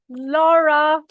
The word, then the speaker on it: Lora: coming your way all the way from Colorado Laura tables did I pronounce that right you did it perfectly thank